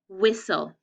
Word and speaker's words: whistle: a closed syllable and we have a consonant l e but we know it's an exception because the t and the e are silent whistle okay number three